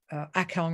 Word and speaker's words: Akong: was taught to me um by um the akong rinpoche and that's spelled uh a i'm going to type it